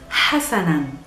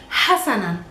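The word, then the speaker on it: حسنًا: It's Hassanan, Hassanan. Try to say it with me, Hassanan.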